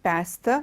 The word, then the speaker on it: pasta: t a is not pasta its pasta okay it's pasta and then